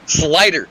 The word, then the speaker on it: Slider: pronounce their names and we have both been butchering his name it is slider slider all right slider